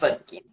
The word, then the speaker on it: Berwanger: Berwanger.